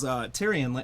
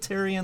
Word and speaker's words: Tyrion: Actor in a Drama for his role as Tyrion. Is that how you pronounce it? Tyrion Lannister? Tyrion Lannister.